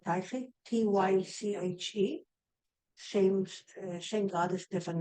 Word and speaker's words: Tyche: I'm saying it right, Tyche, Tyche, same goddess, different names. Tyche, I think. Elvis. Yes. What's the right pronunciation? Tyche or Tyche? Tiki. Say it again. The Greek word is tiki.